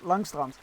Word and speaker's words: Langstrand: If the Corsair of Umba remain active along the coast of Langstrand, it is uh I'm going to pronounce that Dutch in just Langstrand.